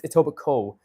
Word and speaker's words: Etobicoke: Just like there's a place called Etobicoke, but it's Etobicoke, right?